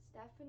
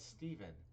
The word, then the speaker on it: Steven: It's Steven. How do you not know how to pronounce the word name Steven? I always think it's Stefan. No, it's Steven. But that means a F sound.